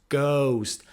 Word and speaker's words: ghost: word with h is ghost ghost so it's not ghost or ghost no nothing it's ghost h is silent i saw a ghost